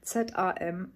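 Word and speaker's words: zam: SAM, SAM, also wird mit S ja ausgesprochen, das Z.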